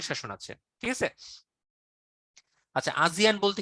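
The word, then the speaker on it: ASEAN: আচ্ছা, আজিয়ান বলতে কি বুঝে একজন জিজ্ঞেস করেছেন, ভাই এটার উচ্চারণ আজিয়ান হলেও বানানটা হচ্ছে আসিয়ান। আসিয়ানের নাম শুনেছেন? Association of south east এশিয়ান Nations, ওইটাকে আমরা আজিয়ান বলছি, উচ্চারণটা আজিয়ানই হওয়া উচিত।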